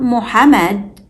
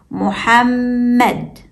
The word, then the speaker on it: Muhammad: The first syllable is mu. The second syllable is ham. This is where the second meme sound occurs. But it's hidden. It's not written, but we still pronounce it. And don't forget to hold the meme with sukoon briefly. The third syllable is med. The third meme sound has fatha. So when we put it together, it's Muhammad.